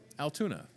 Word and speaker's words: Altoona: about Altoona Iowa and if you need to have it broken down kind of phonetically Altoona yeah there you go